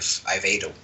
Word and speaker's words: Aveiro: But I will be visiting the University of Aveiro for a concert and a clinic.